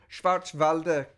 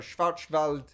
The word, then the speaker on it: Schwarzwald: is it i'm gonna i'm gonna butcher this schwarz valdez uh or schwarzwald quiche torta i think it was that someone told me in the channel before that because i was saying it wrong which is black forest